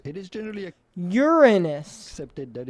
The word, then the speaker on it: Uranus: We are looking at how to pronounce Uranus. It is generally Uranus. accepted that it is preferable to stress on the first syllable when you say it rather than on the second one, and say Uranus rather